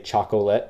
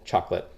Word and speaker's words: chocolate: 1 2 3 4 some people say chocolate because that's how it's spelt but typically I always say chocolate a little bit quicker and easier chocolate milkshake so we